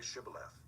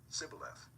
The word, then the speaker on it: Shibboleth: When he said no, they said to him, Then say Shibboleth. And he said, Sibboleth, for he could not pronounce it right.